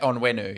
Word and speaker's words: Onwenu: and that's Michael ONN is how do you pronounce his name is it onwu on onwenu yeah onwenu yeah on onwenu um I picked him up